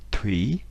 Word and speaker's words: Thủy: L'eau en vietnamien se dit Thủy, donc le TH se prononce comme un T aspiré, donc T, donc Thủy.